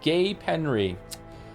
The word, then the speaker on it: Gapenry: Gave them Loretta Gold, pronounced Gay Penry.